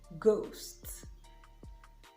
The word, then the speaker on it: ghost: It is also silent after C in words like echo, choir, ache, and after the letter G in words like ghost, ghastly, and finally to the interesting letter I.